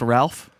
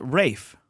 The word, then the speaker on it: Ralph: Michael just wants to let us know it's not pronounced Ralph Yeah, we Or- figured that out right after the mics went down. or Ray Fiennes. It's actually pronounced Rafe.